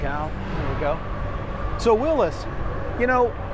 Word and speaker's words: Willys: always understood it'd be pronounced such as Willis as in what you talking about Willis for all my Different